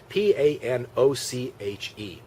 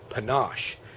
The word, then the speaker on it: panache: It's spelled Panoche. Now, for whatever reason, my teacher did not know that that word was pronounced panache.